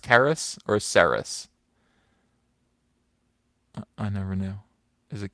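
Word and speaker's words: Cerys: gone of cuck odd no no no hard K Karis I was pronouncing it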